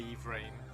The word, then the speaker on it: Yvrain: I do like the way you say Yvrain, Twitch lady. Interestingly, Twitch lady, Yvrain is exactly the same way that they pronounce Yvrain in the Lelith book.